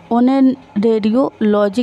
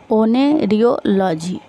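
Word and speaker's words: oneirology: ओनेरेडियोलॉजी किसका अध्ययन है? तो ओनेरेडियोलॉजी है वो संबंधित है सपनों से। थोड़ा प्रोनाउंसिएशन में प्रॉब्लम हो जाती है फ्रेंड, लंबा है इसलिए। ओनेरियोलॉजी तो ये जो संबंधित है वो सपनों से संबंधित है।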